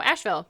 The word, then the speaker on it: Asheville: ma modern asheville oh asheville asheville why does it have an e in there i don't know it's just the name of the town dumb no it's silent e i love it english